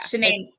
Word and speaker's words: Shanann: Shanann.